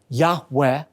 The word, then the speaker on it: Yahweh: Hebrew letters yud V oftentimes pronounced a breathy Yahweh the tense of God's